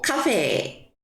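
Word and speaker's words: カフェ: F가 아니에요. 히로 해 주면 됩니다. 카페도 마찬가지예요. 이거는 번의 편이긴 합니다만 여기다가 한번 써 볼게요. 어떻게 하냐면가 후후 해 주시고 옆에다가 에를 넣어 가지고 카페 요런 식으로 어 후 발음으로 해 줍니다. F 발음은 일본에 없으니깐요.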